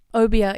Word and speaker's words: obia: wants to find she sees this obia is how they say it in the audio book obia she sees an obia